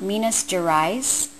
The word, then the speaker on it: Minas Gerais: I'm pronouncing this right, and I'm probably not, Minas Gerais, or it's spelled, the last part is G-E-R-A-I-S.